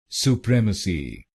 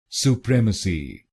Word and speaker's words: Supremacy: C Supremacy Supremacy and in this word you have to put stress on the second syllable i.e. PREM, Supremacy Supremacy.